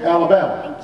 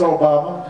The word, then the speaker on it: Obama: And they call me Alabama. Or they call me Yo Mama. And I'd have to explain, no, it's Obama.